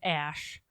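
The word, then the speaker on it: Æ: like a symbol like it's like a nanny together which I guess is pronounced ash and then a -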